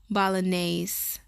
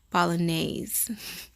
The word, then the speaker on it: Bolognese: And I believe it's pronounced, pretty sure it's pronounced bolognese sauce. Italian meat sauce is called bolognese. Bolognese. Not that hard to pronounce, I just have to double check.